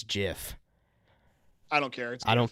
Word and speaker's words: GIF: I say GIF because I think the G stands for graphic.